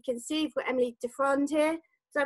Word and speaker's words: Defroand: As you can see, we've got Emily Defroand here. Did I pronounce that right?